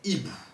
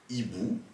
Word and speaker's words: hibou: Deuxième cas, en début de mot, on peut aussi avoir un H qu'on appelle aspiré. Dans ce cas-là, on ne peut pas faire la liaison. Par exemple, avec le mot hibou. Ainsi, on dira un hibou ou des hiboux. Et là, on ne fera pas la liaison comme vous avez pu l'entendre. On ne dira pas un hibou ou des hiboux. Non.